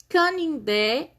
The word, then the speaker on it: canindé: Canindé. Qual que é a sílaba tônica? O dé.